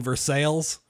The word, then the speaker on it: Versailles: Kentucky boy and we we pronounce them L's like in Versailles there's no City in